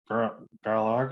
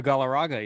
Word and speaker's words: Galarraga: I always try to pronounce his name correctly. And then Garlargo, help me Yeah, out here. Armando Galarraga.